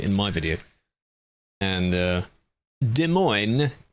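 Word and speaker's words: Des Moines: And uh De Moine is basically how he said it.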